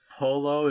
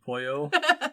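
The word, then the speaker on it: pollo: pissed him off because i didn't realize polo is actually supposed to be poyo they're very different words yeah i have no clue what the other one means but i know i've been saying it wrong for almost my whole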